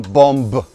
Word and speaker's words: bomb: В слове bomb мы не проговариваем, не произносим последнюю букву B. Мы не говорим bomb. We say bomb.